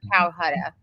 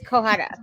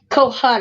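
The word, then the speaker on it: Cohutta: No, not Calcutta. I Is can't it? say his name. How do you say it? It's Kohutta. Kohutta.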